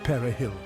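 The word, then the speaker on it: perejil: test Dominican soldiers would ask people to pronounce perill the Spanish word for pting Haitians who spoke Creole and French struggled to say it like Spanish speakers those who failed were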